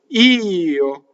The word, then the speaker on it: io: And the same with the next word, io. It's a semivowel, and you'll see it written on one note, but you have to make a little grace note for the O. Io. Not like in Spanish where it's yo for I.